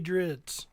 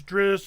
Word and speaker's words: Drizzt: Salvatore varies how he pronounces Drizzt. I say Drizzt. he says Dritz.